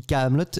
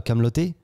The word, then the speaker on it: Kaamelott: Et puis peut-être aussi pour le côté international, si vous voulez l'internationaliser, tout le monde dit Kaamelott et pas Kaamelotté.